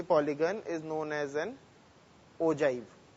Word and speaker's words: ogive: is known as an ogive the spelling is og iv-e it is pronounced as oje so we have to